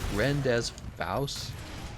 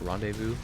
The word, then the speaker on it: rendezvous: me and you rendezvous wouldn't word the way it's spelled Brenda's vows renders vows pronounced rendezvous that's a French word is it not I